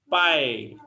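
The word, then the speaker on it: π: sebagai prehati bukan ya Ini bacanya adalah pai gini v bukan PH ikan ape Hai beda lagi hurufnya Yang apa-apa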